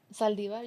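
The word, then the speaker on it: Saldívar: Saldivar, Yolanda Saldivar.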